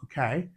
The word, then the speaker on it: bouquet: Yeah, that word is pronounced bouquet. So the T is silent and then the UE or the the T is silent.